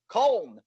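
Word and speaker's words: Köln: um not cologne not at football side no cone for some reason they decided to put two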